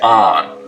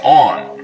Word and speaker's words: on: Now, north of this line, most people say on, rhymes with don. South of it, they say on, rhymes with dawn.